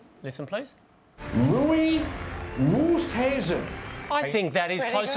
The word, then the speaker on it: Louis Oosthuizen: A little bit of pronunciation B. And the British Open is our theme this week. First one, please. Dave. Louis Oosthuizen. Listen, please. Louis Oosthuizen.